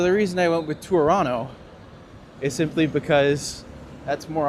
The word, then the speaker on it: Toronto: past couple years, uh, the joke with Toronto is that no one ever says the second T. So, the reason I went with Toronto is simply because that's